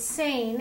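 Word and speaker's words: Seine: Saint, now you pronounce it Sane, and it was spelled S-E-I-N-E, is that right?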